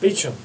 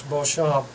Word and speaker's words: Beauchamp: area in 1873, and the English people pronounce it Beecham, but in French it's Beauchamp.